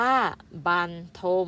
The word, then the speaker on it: บรรทม: ของ ไทย หมู่ บ้าน ทม อ่าน ว่า บรรทม ก็ หมาย ถึง นอน